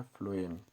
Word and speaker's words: phloem: तो यहाँ पर सबसे पहले जाइलम देख लीजिए, इसकी spelling XYLEM, xylem. And second number पे है फ्लोएम, PHLOEM।